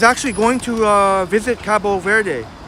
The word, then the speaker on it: Cabo Verde: going to uh visit Cabo Verde. Cabo Verde, sorry. And thank you for telling me the proper pronunciation. Wesley, I know a lot of folks still make that mistake. Cabo Verde.